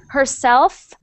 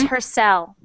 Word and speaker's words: herself: herself good good um sometimes you forget to make that f sound at the end whenever you say herself just make sure you hear herself not her cell okay herself good good